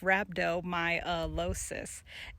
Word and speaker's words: rhabdomyolysis: Rhabdomyolysis, pronounced rhabdomyolysis, is a condition that causes your muscles to break down or disintegrate, which leads to muscle death.